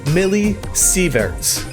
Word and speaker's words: millisieverts: The reading on the display showed 4,000 millisieverts. Is that how you say it? I know it's milli now.